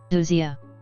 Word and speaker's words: ousia: Ousia.